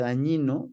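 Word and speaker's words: Dagnino: apellido materno Es dañino es italiano se escribe con gn Es dañino pero se pronuncia dañino Lo siento pero dañino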